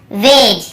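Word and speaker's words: wedge: फिर देखिए हेज और वेज, यहाँ पर भी डी को हम नहीं पढ़ रहे हैं, ब्रिज, एज, हेज और वेज।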